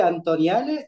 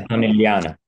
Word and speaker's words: Antonelliana: Así que sos de la mole Antoniale, ¿no? ¿Es la mole? Antonelliana, la mola antonelliana porque la hizo Antonelli.